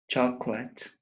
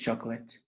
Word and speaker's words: chocolate: levels like Spanish syllabus for example chocolate chocolate two syllables chocolate the pronunciation is chocolate breakfast how many syllables